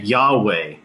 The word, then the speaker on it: Yahweh: or we call it YHVH, or we just pronounce it Yahweh.